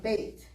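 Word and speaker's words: בית: But when they combine words and make a new word out of 2 words, it becomes an A sound, bait. So, Sefer, we haven't gotten to stomach yet, but Sefer is a book, okay? Beit Sefer would be, instead of bite, it's bait.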